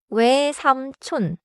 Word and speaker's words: 외삼촌: 외 is one syllable. 외삼촌. 외삼촌.